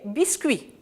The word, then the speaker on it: biscuits: me laisse du pluriel des biscuits donc le ts sont des lettres minutes elles ne disent rien continuant mes enfants intéressons